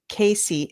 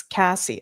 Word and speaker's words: Cassie: Not Casey, it's Cassie.